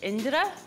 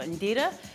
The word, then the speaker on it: Indira: know about me is that how you really pronounce my name is indira or indira it's an indian name i was named after